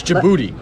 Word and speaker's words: Djibouti: million people in this booty what are you talking about the Internet is just I don't think that's how you pronounce it it's Djibouti I gotta look up